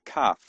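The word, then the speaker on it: כּ: a differentiation on the cuff. The cuff with a dot in it, with a dagish in it, is a C as in king. So, it's cuff.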